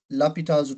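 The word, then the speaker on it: L'Hôpital: So you're going to say by lapita's rule it's pronounced as hospitals.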